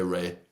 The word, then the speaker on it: Rea: me second name in in England people say Ray but in in Italy it's it's rare so yeah I'm glad